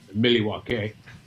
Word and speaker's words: Milwaukee: We stayed in Milwaukee, which is actually pronounced Milwaukee.